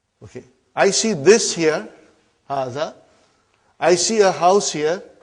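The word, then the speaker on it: هذا: See, it is pronounced like Haza.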